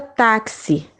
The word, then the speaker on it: táxi: Porque no momento que eu vou pronunciar o fonema, que é o som táxi, eu pronuncio com o C e o S.